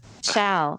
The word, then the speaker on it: Shall: Shao, like the word.